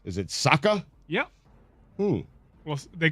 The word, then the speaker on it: Saka: You certainly added at least two syllables. Is it Saka?